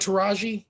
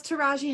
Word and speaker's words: Taraji: How do you pronounce her name? Taraji. Is it Taraji? I thought it was just Taraj. Taraj? No, it's Taraji Henson. Yeah, anytime I've heard her be interviewed, where it's always been Taraji.